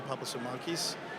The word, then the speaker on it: Papasimakis: It's a it's a it's a it's a hard Greek name sometimes to pronounce. Uh so, I'm Papasamakis, and I am the CEO and President of Homeland Energy Solutions.